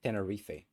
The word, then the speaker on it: Tenerife: a thing Tenerife okay whatever uh I just pronounced let me give it to me Tenerife Tenerife it's Tenerife okay so airport disaster it is crazy so